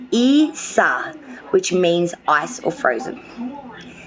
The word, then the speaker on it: Isa: out was this beautiful card here and it's pronounced Isa which means ice or Frozen card is associated